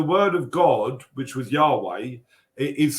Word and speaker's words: Yahweh: But the word of God, which was Yahweh, is spelt in such a way that it's the only word that you can say in Hebrew where you don't close the mouth.